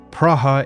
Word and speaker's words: Praha: Praa is the Czech spelling and pronunciation of the capital city in the Czech Republic, Prague.